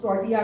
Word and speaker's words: tortilla: तो इसकी स्पेलिंग टोटला होती है लेकिन यह प्रोनाउंस टोटिया होता है क्योंकि ये मैक्सिकन डिश है तो इसकी स्पेलिंग अलग होती है और प्रोनंसिएशन अलग होता है वो नहीं होता जो स्पेलिंग होती हल्का-हल्का गोल्ड करती हूं